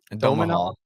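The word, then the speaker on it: Domhnall: Gonzalez, and Domenhall, Domenhall, Domahal, I think. Yeah, that's Domenhall, how you pronounce it.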